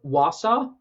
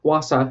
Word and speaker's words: Wausau: in Wausau Wausau I think that's how you say it wasa it's like you saw but wha let's look at